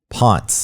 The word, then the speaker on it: Ponce: But there's businesses along Ponce, as it's pronounced. It's not the correct pronunciation of the man's name, but that's the way they pronounce it in Atlanta.